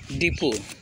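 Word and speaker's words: depot: डिपो, T silent हो जाता है।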